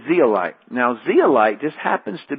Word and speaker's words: zeolite: up is our substance would be the right way to say is zeolite now zealite just happens